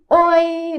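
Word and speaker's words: 오이: agora o pepino tá não é um oi do português é diferente é oi oi não é oi é oi são duas sílabas o i desse jeito tá então o i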